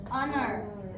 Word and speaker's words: honor: Honor. Nah, kalau ini kalian bacanya Howard. Enggak kan? Kalau ini honest. Good. Kalau ini gimana? Honor. Jadi ini disebut silent H.